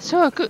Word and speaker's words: 書屋: 次は諸屋展示室に入ってみます。